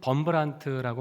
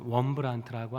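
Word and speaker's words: Wurmbrand: 아 우리나라에는 범브란트라고 많이 알려졌었는데요. 이분이 루마니아뿐인데 원래 발음은 원브란트라고 합니다.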